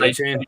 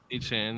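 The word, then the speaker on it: Achane: I thought that basically it looks like his name's spelled like Acne. I thought he was gonna be the starter. That's A-Chain. yeah. A-Chan, yeah.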